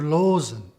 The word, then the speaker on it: Loosen: of the double O this is not pronounced ooh like we do it in English but o as in Dr loen so you can see